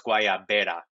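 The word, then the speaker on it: guayabera: some fake news actually it's uh it's with a B not a v so it's guaya beta okay I like that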